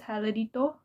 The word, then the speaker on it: heladito: I sounded so sure that I said it right, but it's actually heladito, which means ice cream.